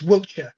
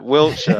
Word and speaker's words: Wiltshire: going to start with it's Wiltshire. You're speaking to an Englishman now. You got to get it right. Wiltshire. We don't overpronounce that stuff. Wiltshire. Come on, you're rubbing too much sauce on it there.